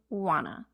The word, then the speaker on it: wanna: get a new iPhone notice how want to became wanna search word Google Search the